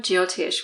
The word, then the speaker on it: Jyotish: So firstly, the term Jytoish, which is often used to describe Vedic astrology, am I pronouncing that correctly?